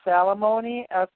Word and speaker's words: Salamoni: His name is pronounced Salamoni, Salamoni.